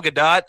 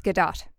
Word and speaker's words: Gadot: uninformed, Gadot would be the French pronunciation, but she is Israeli, not French, so it's Gadot.